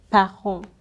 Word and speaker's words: parent: So this is parent, and we don't pronounce the T because it's ending the word.